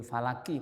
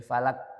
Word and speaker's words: falaq: Ilmu falaq ini pakai qof alfalaqo auzubirabbil falaqo falaqo gitu gak boleh falak gak boleh gitu bacanya harus istila qo au qul auzubirabbil falaq laqo karena makhrajnya atau daerah tempat keluarnya agak di belakang daripada kaf kalau kaf di tengah